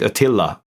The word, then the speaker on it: Attila: We pronounce it Attila, but it's actually 2 T's.